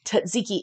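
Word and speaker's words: tzatziki: to get cuck sauce you say tziki it's spelled TZ a t z i k i t z a t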